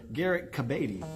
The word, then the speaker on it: Garrik Kebede: GARRIK KEBEDE.